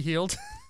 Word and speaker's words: Hield: I I said hey if I pronounced it wrong let me know you know he texted me it's pronounced buddy hield the text you to